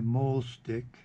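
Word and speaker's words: mahl stick: Now you notice I'm using my mole stick. That's spelled M-A-H-L.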